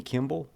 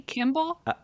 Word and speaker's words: Kimmel: uh did you know he was on Jimmy Kimmel did you just say Kimball did I probably because I I am a